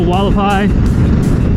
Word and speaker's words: Hualapai: you'd say Hualapai Mountains, how they pronounce it, even though it starts with an H. It's like H-U-A, but they pronounce it Hualapai.